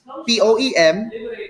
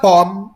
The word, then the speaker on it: poem: word pronounced p-o-e-m p-o-e-t are better pronounced as poem you are to shorten the m or the second syllable that you could hear from the word shorten it poet but it's not palm it's that part poem poet with an aspiration of the sound that should be aspirated there should be a